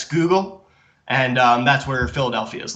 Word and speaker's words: Schuylkill: And then we have the New Sweden on the bottom left with Fort Christina, but that river that looks like it's Schuylkill, that's actually pronounced Schuylkill, and that's where Philadelphia is located, is right on the mouth of the Schuylkill.